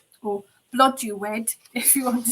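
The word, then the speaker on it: Blodeuwedd: Arianrod, Blothuwith, or Blodeuwed, if you want to say it how it's actually spelled, but I do understand it is pronounced Blothuwith.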